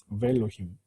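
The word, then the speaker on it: וֵאלֹהִים: 이거는 ve가 아니라 알레프 무구마까지도 같이 해서 베일로힘이라고 이렇게 발음합니다. 베일로. 알레프 때 무구마 된 거예요. 베일로힘.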